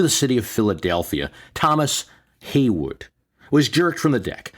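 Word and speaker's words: Heyward: city of Philadelphia Thomas Haywood was jerked from the deck and fell into the water pronounced Haywood though it appears a word on the Declaration that he signed he was being released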